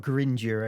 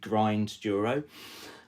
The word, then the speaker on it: Grinduro: Originally the the concept was that it was part gravel grinder, part mountain bike enduro. So perhaps the official term would be grind duro.